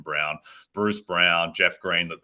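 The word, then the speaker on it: Braun: guys like Christian Brown I don't know why his name isn't pronounced Brawn but apparently it's Christian Brown Bruce Brown Jeff Green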